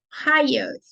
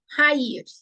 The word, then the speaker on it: hayır: Hayır. Ekmek yok. Tome um cuidado aqui na pronúncia, para não falar hayır. O correto é hayır.